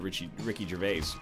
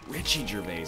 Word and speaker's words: Ricky Gervais: Like, it's not like I'm trying to court Ricky Gervais. Richie Gervais, that's just a Terrible mispronunciation.